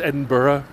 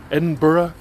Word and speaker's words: Edinburgh: hogman in in Edinburough and know that it's pronounced Edinburgh and hasn't everybody been to Australia knows that it's not Melbourne it's Melbourne doesn't everybody know it's Melbourne and Edinburgh come on people edicate yourself get all smart